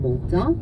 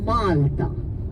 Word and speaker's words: Malta: That's the English pronunciation to the name of the country. So, as Maltese, we do not call our island Malta. It's Malta.